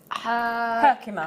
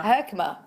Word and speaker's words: Herkimer: hand I've not seen this yet how to pronounce this Herkimer Herkimer it's an industrial region in New York State